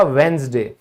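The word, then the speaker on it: Wednesday: बुधवार, अब यहां क्या हुआ, यहां डी के बाद एन आया तो ऑब्वियस सी बात है हम क्या कर देंगे, साइलेंट कर देंगे उसे, ये बन जाएगा वेंसडे।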